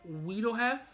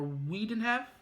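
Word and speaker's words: Wiedenheft: got jason laberchit as hitaro you got sarah wiedelhev or we didn't have it's spelled w-i-e-d-e-n-h-e-f-t as zazu you got ginny tirado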